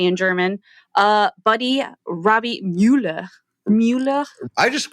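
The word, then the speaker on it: Müller: I mean, I guess it's Robby Muller. Well, yeah, it looks like Muller, but the U does have an umlaut. So it'd be Muller.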